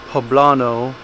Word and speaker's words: poblano: both jalapeno and poblano poblano that's how you say it i do believe i got a lot